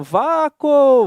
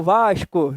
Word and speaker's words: Vasco: Ninguém há aqui duvide assim, caramba, eu falo Vaco, Vasco, né? Alguém tem dúvida disso? Não, é natural falar Vasco, né? Gritar, né? Vasco, ele é bem bonito, tá? Ó, olha só, eu pronuncio o S e pronuncio o C, não tenho dúvidas disso.